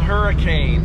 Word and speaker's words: Hurricane: So we live in a town called Hurricane, but we call it Hurricane because it's the British pronunciation.